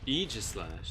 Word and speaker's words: Aegislash: Aegislash, that's how it's Just as I pronounced.